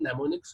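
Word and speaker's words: mnemonics: इन the form of नेमोनिक्स code. अब ये नेमोनिक्स code मतलब क्या होते हैं, जहां पर एम क्या होता है आपका साइलेंट होता है ना, और ये नेमोनिक्स कोड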